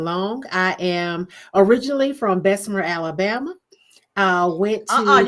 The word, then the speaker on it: Bessemer: I am originally from Bessemer, Alabama. Went to You gotta say it right. You know we don't say it that Bessemer. proper. It doesn't have an R on the end.